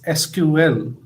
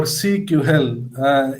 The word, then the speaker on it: SQL: SQL pronounced as SQL or CQL is basically a RDMS, whereas NoSQL is a non-relational or distributed database.